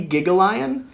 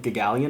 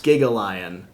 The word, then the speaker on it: Gigalion: is supposed to be it's supposed to be gigalian but we were talking with one of the designers at gen con and he actually said that he liked the pronunciation of gagalian as well so it's interesting because some of the cards like that one literally says giga yeah so it's it's specific it's specifically supposed to be gigalion okay i believe those